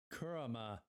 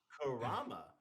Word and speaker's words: Kurama: but he gave up kurma to save BTO and no no say it right say it right Patrick Kurama gave up Kurama Naruto